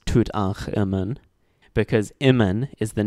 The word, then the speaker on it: Tutankhamun: The name of the pharaoh Tutankhamun, which literally means living image of Amun, is written as Imen Tutankh, even though it's still pronounced as Tutankhamun, because Imen is the name of a god.